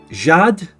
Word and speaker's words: Jade: do you pronounce it Jade the English I bet my name is top not top 100 H it's pronounced with a French accent so it's Jad